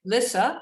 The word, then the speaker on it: Lissa: thank you so much in fact i'm sorry lissa i am so sorry lisa i've been i realized i've been mispronouncing your name all this time so that